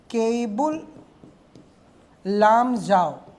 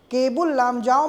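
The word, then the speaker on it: Keibul Lamjao: और उस the only the only floating national park केबुल spelling इसका के ए आई के ई आई बी यू एल केबुल लामजाऊ the only floating national park in the world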